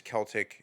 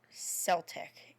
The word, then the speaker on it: Celtic: It's not Celtic. It's Celtic. It's a hard C. It's Celtic. Please don't fucking say Celtic.